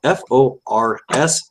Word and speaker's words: Forsman: His last name is spelled F-O-R-S-M-A-N. Would that be Forsman? Sounds like it, yeah.